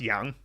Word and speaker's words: 氧: Yeah, oxygen, the character for oxygen is just yang underneath the qi component, and it's pronounced yang.